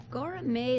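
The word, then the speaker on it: Göreme: the area of NL's pronounced different ways but it looks like gourmet gourmet is right because that's where the accent is on the in the book and the book if that's what it says hola betty's a couple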